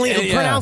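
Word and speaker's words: Lynyrd Skynyrd: Yeah, I think it was pronounced Leonard Skard.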